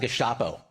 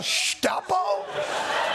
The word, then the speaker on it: Gestapo: In America, we pronounce it Gestapo.